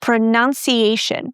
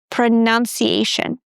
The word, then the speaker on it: pronunciation: And it's pronounced like the uh sound as in cut. Pronoun pronunciation. Repeat after me, pronounce. pronunciation And moving on.